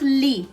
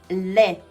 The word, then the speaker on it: le: Le. Le. It's not li, okay? It's le. This is I. This is e. E sound.